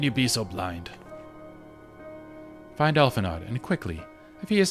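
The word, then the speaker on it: Alphinaud: It's pronounced Alphanod. I'm gonna say Alphanod. I don't like him, so I'm gonna mispronounce his name on purpose. How pretentious is it to put an AUD on your name and say it's O?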